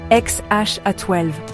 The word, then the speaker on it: X Æ A-12: Le premier X A12, ça se prononce XH A12, sauf si tu es un humain normal.